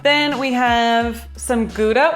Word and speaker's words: Gouda: then we have some gouda which i heard is actually pronounced auda i think that's like the proper swiss way to say it where's gouda cheese from